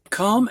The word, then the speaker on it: come: the prior lessons but come and some not only have an O sound for oh but the e that silent e at the end does not make the o say it's long sound so it's got a couple tricks to it in these words all right and then